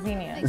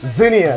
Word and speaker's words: Xenia: Xenia. Xenia. With the Z. Not Xenia. With an X. With an X. Xenia. The X is silent.